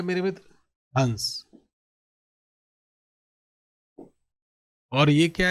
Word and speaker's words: हंस: हंस। और यह क्या है? हंसना। हंस पे क्या लगा हुआ है?